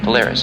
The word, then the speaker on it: Polaris: The brightest star of Ursa Minor is pronounced Polaris, and as mentioned before, means pole star.